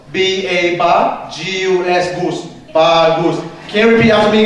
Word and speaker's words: bagus: So it's made up of two syllables. B-A-B-A-G-U-S, gus. Bagus.